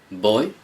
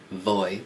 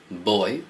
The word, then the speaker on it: voy: so I can say boy I go remember that the v in Spanish is pronounced like a b so it's not voy but boy a bit like girl